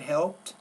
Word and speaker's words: helped: has helped them but helped as long as you pronounce the T on the end we know it's past tense first of all the